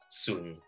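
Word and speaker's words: 笋: in chinese is called sun well at least that's how we pronounce it in that dialect so and it sounds like soon which means um everything is smooth so it sounds good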